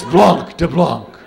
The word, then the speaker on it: blanc de blanc: We'll have a bottle of blank de blank. Mama. It's blanc de blanc.